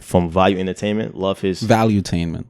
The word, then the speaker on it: Valuetainment: Yeah, Value Entertainment. Valuetainment. It's valuetainment. Oh, yes, one like he made one word with it. Yeah. The way it's spelled, it has like 2 E's, so I just separated it.